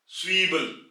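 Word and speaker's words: Zwiebel: और यहां पे आप देखें कि पहले सेट की आवाज और उसके बाद वी, डब्ल्यू यहां पे साइलेंट हो जाएगा और आई Also ई और ए से ये ई की आवाज देगा, स्वीबल, स्वीबल।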